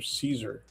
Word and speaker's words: Cesar: And uh they had actually the family pronounced his name Caesar.